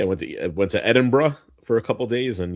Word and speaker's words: Edinburgh: Yeah, I went to went to Edinburgh for a couple days and yes, that is the correct pronunciation. It is Edinburgh.